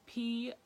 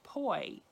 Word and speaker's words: poison: So for example, if you see this word, P-O-I-S-O-N, you might immediately think that the first syllable is pronounced poi, poi for poison. But if you were in France, it should be pronounced pois, pois for poison.